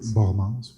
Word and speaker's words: Bormans: Bormans, vu qu'il était belge. Pardon? On disait plus Bormans, vu qu'il était belge. Guy Bormans. Guy Bormans. Qu'est-ce que j'ai dit? Bormans. Mais je l'ai prononcé comme un anglophone.